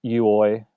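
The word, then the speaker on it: euoi: I pronounce it Uoi. Yes. It's actually a variant spelling of EVOE in Collins, so I think I'm right in saying that. But I don't think it's pronounced Evo like that would be pronounced Evo.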